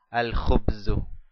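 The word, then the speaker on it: الخبز: Khubzun más el artículo es igual a al-khubzu, al-khubzu. Dejamos la lam, la pronunciamos, la letra lam, y dejamos al final la letra dhamma, una sola dhamma, en señal de la determinación.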